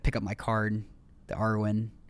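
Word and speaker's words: Arwen: And I I I like kind of pick up my card, the Arwin. Awin, I don't know. Arwin. Arwin.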